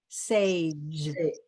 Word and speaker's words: sage: our American J sound it's a soft G which is Ja Sage Sage Sage so put